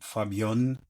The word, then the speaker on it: Fabion: combination with my name, Fabion. I know it doesn't spell that easy, but it's um F A B I O N.